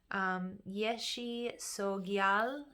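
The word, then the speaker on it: Yeshe Tsogyal: It is Yeshi Sogyal is the pronunciation here, and this is saying that you shall overcome all obstacles, Cancers.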